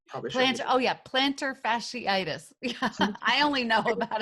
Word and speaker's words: plantar fasciitis: What other areas of intermittent fasting did you talked about the planetariitis? I'm probably shouldn't be Oh yeah, plantar fasciitis.